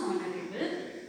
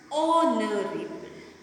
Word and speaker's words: honorable: Because here when we pronounce honorable, H is silent. So it becomes honorable.